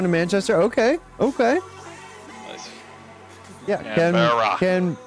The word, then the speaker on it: Canberra: be a world CitizenCon Canberra? Hawaii? Canberra? Canberra. Canberra? I was in the ballpark, jeez. Most likely. I'll most likely be going to Manchester. Okay. Nice. Yeah, Canberra. Canberra.